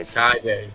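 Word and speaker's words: açaí: berries nice we can oh it rhymes with I it rhymes with I kaya berries or Chi berries alright car berries there you go ty berry acai acai berries Thank You Chet appreciate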